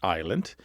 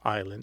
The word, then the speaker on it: island: So, we don't pronounce the S in island because the French don't pronounce the S in isle and that is the word that we borrowed from the French.